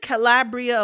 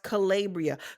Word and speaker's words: Calabria: Isn't Calabria a place in Italy? But hers is pronounced Calabria.